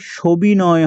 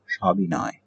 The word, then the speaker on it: সবিনয়: সটি ওকারান্ত হবে না, এটি সবিনয় হবে না, এটার উচ্চারণ হবে সবিনয়, অর্থাৎ বিনয়ের সহিত।